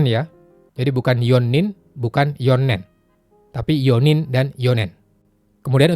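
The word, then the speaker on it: 四年: Yonen, 4 tahun.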